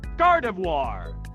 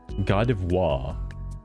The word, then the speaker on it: Gardevoir: Lotad, Lombre, Luna, Colo, Sea Dot, Nauseleaf, Shiftree, Taylor, Swellow, Two, Helipper, Ralts, Curia, Gardevoir, Gardivoir. I've probably been saying that wrong.